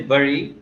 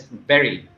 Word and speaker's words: bury: Okay, so usually we say bury, but it is pronounced as berry.